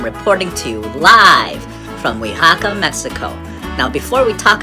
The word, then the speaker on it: Oaxaca: bologna and i'm reporting to you live from oyhaka mexico now before we talk about the town